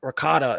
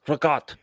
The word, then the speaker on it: ricotta: My mother would always say, it's not ricotta, it's ricotta. You take the A off the end. Yeah, they take the A off. The A is like, you're not Italian if you pronounce the A.